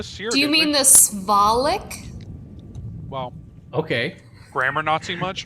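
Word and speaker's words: Svalich: So anyway, before Slavic Slav. I can't even remember how to say it now. Slavic? God, Slavic? It's SV. Svalik.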